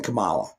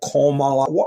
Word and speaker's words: Kamala: very good, Kamala or Kamala. How do they want us to pronounce her damn name anyway? In America, the letter A is pronounced ah, Kamala.